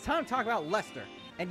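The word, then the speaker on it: Leicester: time to talk about lester and yes it is pronounced lester i know the british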